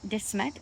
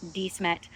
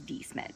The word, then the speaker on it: De Smet: South Dakota, which, by the way, I always pronounced it De Smet, but apparently it's De Smet, which I think is a real butchering of